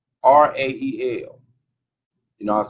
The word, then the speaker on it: Yisrael: Y'all know how it's spelled Mikael, but it's Yisrael. So it's Y, I think, Yizrael.